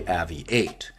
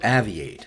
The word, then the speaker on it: AVI-8: Today we take a look at the latest model issued by AVI-8, or AVI-8, however you want to pronounce it.